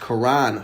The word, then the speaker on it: Karan: actually found out that the name is actually pronounced Karan Phillips and Karan is not a chick he's a dude but I think the name Karen fits better for him